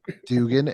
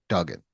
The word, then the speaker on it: Duggan: and stuff because I know people that call him Dugan. And I'm like, no, it's not Dugan. And I almost That's not felt, Dugan. and I always felt like I was like saying his name wrong this whole entire time. And Yeah. then all of a sudden, as I'm watching stuff, everybody calls him Duggan.